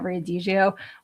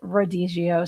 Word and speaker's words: Rodizio: I kept calling it Riadigio, which is a Brazilian steakhouse that I went to. And actually, I found out that that's actually Rodizio.